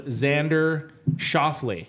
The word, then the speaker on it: Xander Schauffele: And you're going to have to help me on pronunciation here. Number 1, the winner was Xander Schauffele.